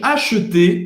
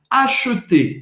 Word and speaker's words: acheter: Acheter. Geralmente, quando você tem ER no final de uma palavra, de um verbo, você vai pronunciar E. Acheter.